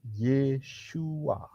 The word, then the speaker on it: Yeshua: y enggak ada ya itu adalah pronounciation atau pengucapan untuk mewakili yesua ya tapi nama orang yang disalibkan ini adalah yesua Bukan Yesus begitu Jadi jangan bingung itu